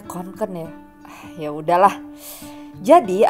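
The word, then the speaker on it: Kånken: pakai tas kkenku Duh harusnya bacanya konken ya Ah ya udahlah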